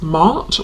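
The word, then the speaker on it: Maat: And I'm noticing the feather, which is making me think of the Egyptian goddess Mart, or Mat, depending on how you pronounce it, who is about truth.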